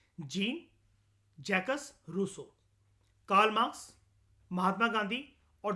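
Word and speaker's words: Jean-Jacques Rousseau: ठीक है, उसके बाद एरिस्टोटल से लेकर जीन जैकस रूसो तक, ठीक है, इसकी प्रोनाउंसिएशन होती है इस पर्सन की, gene जैकस रूसो, Karl Marx, Mahatma Gandhi और डॉक्टर बी आर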